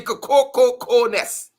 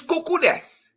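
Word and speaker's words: cuckoo's nest: The Cococo-ness. The actual word is cuckoo-ness. It's cuckoo. The phrase is cuckoo-ness.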